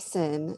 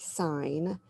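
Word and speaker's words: sine: so um the sign it's not sin it's pronounced sign s of angle a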